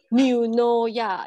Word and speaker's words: Eunoia: Yeah, some of you probably still wondering how do we pronounce the name of this company? It's called Eunoia. Yeah, correct.